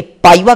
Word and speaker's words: PIVA: Short में इसे हम PIVA, पाइवा के नाम से प्रोनाउंस करेंगे.